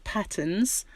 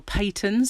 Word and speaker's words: Patons: This is Patterns, or Patons, I think they pronounce it.